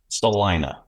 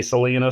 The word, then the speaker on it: Salina: Salina. Salina. Salina. I didn't want to mispronounce it. Say Selena.